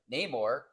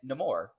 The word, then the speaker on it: Namor: the movie because it it was said both ways both the classic comic way uh Namor and no more right so we were